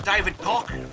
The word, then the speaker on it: David Cock: There's one of my favourites, David Cock. That's the correct pronunciation of his name.